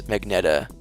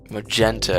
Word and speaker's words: magenta: Magenta is how you pronounce Magneta. Oh, okay. Magenta.